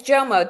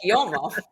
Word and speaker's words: JOMO: Is it JOMO, FOMO, JOMO, right? Am I saying it right? Yeah, it's JOMO, the joy of missing out. Yeah, because I said JOMO. I kind of like Latinize it. You know what I mean? Like it's You're like YOMO.